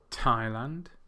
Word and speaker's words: Thailand: You may have noticed that the last 2, Brazil and Japan, have the stress on the second syllable, whereas the first 3, Russia, Thailand, and China, have the stress on the first syllable.